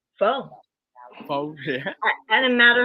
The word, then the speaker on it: pho: And so then Lynn told me, I said, I know I'm not pronouncing it right. And she said, no, it's pho.